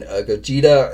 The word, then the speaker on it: Gogeta: So Super Broly and then Gogeta, I believe is how you pronounce his name, hobby exclusive version.